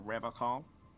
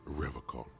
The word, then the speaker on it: Revachol: pronounces Revocol with a hard K, unlike other people. Right, that caught my attention too. You said Revocol. I like to pronounce it the hard way.